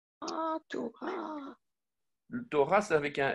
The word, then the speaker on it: Torah: Donc, en fait, le Vav, ici, c'est pas un V, c'est un O. Ah, oui, d'accord. Parce que vous savez que le Vav a trois prononciations différentes, soit le V, soit le O, soit le OU. Donc, ta, to, ra. Et le A, c'est le E, en fait.